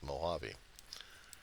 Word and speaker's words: Mojave: could see it but it's not the right pronunciation for it's Mojave because it was an